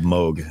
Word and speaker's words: Moog: __ ] noob yeah it's pronounced Bob Moog it's it's the same